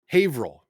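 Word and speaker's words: Haverhill: is almost not there havil havil havil my God havil hail like a person that their name rhymes with drill hey vill hey hey you don't say the e in the middle it's not okay okay okay havil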